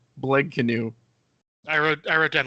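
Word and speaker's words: Blegknu: canoe that out okay no it's b l e g k n u BL canoe I wrote I wrote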